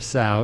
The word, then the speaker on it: Saud: Judge Saud it rhymes with loud. So it's Judge Saud.